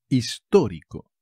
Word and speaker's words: histórico: ya está historic historic histórico tiene un acento en la primera o como lo veis histórico